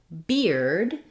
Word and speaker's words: beard: say the word beard hear the letters e a r say the ear sound again confusing because in the dictionary this looks like bird you may also see it written like this in the dictionary um for ear I think of ear as ear like my ear like fear near we can also spell